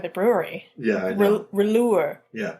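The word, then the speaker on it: Rouleur: blond let me see rure it's r o u l e u r rure it's it's local to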